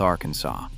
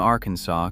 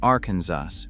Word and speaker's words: Arkansas: American settlers argued about the pronunciation for generations until the state legislature officially declared in 1881 that the final S is silent. The pronunciation is not informal or regional. It is law. Calling it arensus with the final S